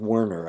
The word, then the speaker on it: Werner: actually a um communicating with Verner with wner actually is the way she pronounces it uh to uh to